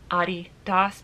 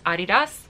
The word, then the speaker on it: Adidas: traditionally Adidas is pronounced Adidas because it's named after the founder Adolf dassler who was nicknamed ADI so it's Adidas there you go both